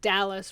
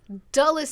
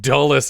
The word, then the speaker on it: Dulles: For most of my life, always thought people just said Dallas. Really weird. For some reason, the Dallas in Washington is pronounced but weird. I also didn't understand that Dulles Airport, which I had heard of, was in Washington, D.C.